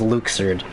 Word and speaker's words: Luxord: I'm very angry that his name is pronounced Luke surd because that ever occurred